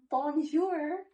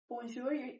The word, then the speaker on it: bonjour: Or, like, in bonjour, it's like a je sound, but she says bonjour, not bonjour.